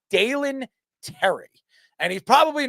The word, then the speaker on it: Dalen Terry: thoughts and uh it so how do you pronounce the name? It was Dalen or Dalen Terry.